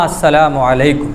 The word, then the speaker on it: السلام علیکم: انہوں نے کہا کہ ہاں السلام علیکم یہ صحیح تلفظ ہے، السلام علیکم، السلام علیکم،